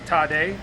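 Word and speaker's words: tare: it into a liquid called the tade pronounced today spelled t-a-r-e and that is what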